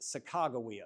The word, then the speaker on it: Sacagawea: So the way that they wrote it out, it's more likely that it's pronounced Sacagawea. So that's how I always pronounce it.